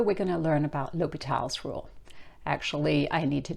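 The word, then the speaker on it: L'Hôpital: going to learn about lal's rule actually I need to just correct that there should be that little um symbol above the o to get the pronunciation of Lal um because I don't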